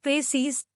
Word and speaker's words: précis: The word précis, pronounced précis, is a noun derived from the French word préciser, which means to specify or to make clear.